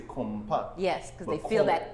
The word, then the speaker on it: konpa: But yet, unless you're native to the island, kompa is going to be hard for you to pronounce. Yes. So the nasal sound sets us apart.